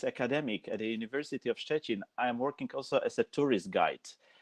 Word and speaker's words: Szczecin: How do you pronounce? Szczecin.